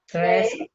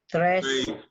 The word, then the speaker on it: tres: Tres. Tres. One more. Tres. Tres. Right, it's not tres. It's Tres.